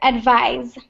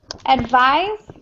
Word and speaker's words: advise: one pronunciation right here advise advise yeah so when it's the verb advise it's pronounced like that uh and that's the verb okay advice advice is the noun okay so they're pronounced slightly different okay all right so